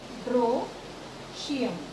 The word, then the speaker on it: androecium: Androecium, break this word, androecium, E is silent.